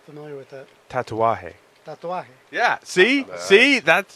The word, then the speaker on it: Tatuaje: Tatuaje. Tatuaje. Yeah. See, that's Tatuari. no. There's no R in it.